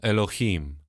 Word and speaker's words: Elohim: zobaczycie co ono oznacza wymawia się je Ela elohim co oznacza sam przez siebie